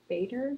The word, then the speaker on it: Bader: Right now I'm using Augustinus Bader. Am I saying it right? Augustinus Bader or yeah. Batter. Okay, how do I say it? Augustinus Batter.